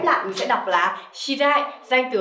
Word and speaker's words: 知り合い: Và cả cái cụm này ghép lại mình sẽ đọc là shirai, danh từ ở đây là người quen, đúng không?